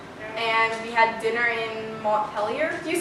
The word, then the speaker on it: Montpelier: And we had dinner in Montpelier. Do you say it with the ER like the French way or pronounced? Montpelier.